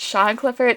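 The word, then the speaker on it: Sian Clifford: claire as herself shot i think her name is pronounced sean clifford it's spelled weird yeah i think it's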